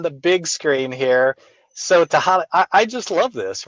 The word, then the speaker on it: Tehaleh: And she said, well, it rhymes with tamale.